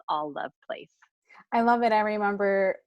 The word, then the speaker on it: Alluv Place: It's all love place. A ll uv place. It looks like a lot of people want to say alve.